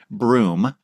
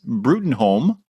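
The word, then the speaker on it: Bruttenholm: Hellboy visits his uh, human father figure, Trevor Broom, with, but it's spelled B R U T N H O LM, which, you know, in my mind is Brutinholm, but apparently it's it's pronounced broom.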